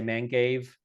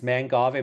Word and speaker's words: mangave: quick note on pronunciation I've heard people say mangave which is not a man cave you know kind of hurts it's manave man from Man fra and the goave part from Agave now let's look quickly at